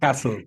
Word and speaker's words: castle: Okay Okay host penone Castle whether you are castle castle the thing is that this this T is a silent letter Castle M Castle Hotel